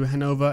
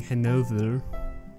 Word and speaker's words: Hanover: emery now referred to hanover as hanover it's a german pronunciation and more natural to me it also induces less pain in saying henover or something similar now that might sound